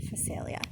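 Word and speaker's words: Phacelia: facilia oh gosh you guys i can't even pronounce it phosphalia p h a c e l i a facilia so that's a flower so is the alyssum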